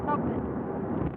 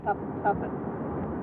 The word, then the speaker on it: Tubman: slave Tubman yes how do you say it Tubman Tubman Tubman Tubman t u v m yes yes